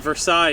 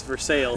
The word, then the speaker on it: Versailles: It's Dant or or uh uh it's not Versailles, it's Versailles.